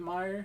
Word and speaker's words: Meyer: is Michael Meyer mayor I heard it pronounced Meyer is it Meyer that's what I've been